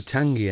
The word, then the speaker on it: Tangye: be looked into meanwhile I will Muse on the pronunciation of the name of this engine and why it's called that it's called a Tangi engine because it's of a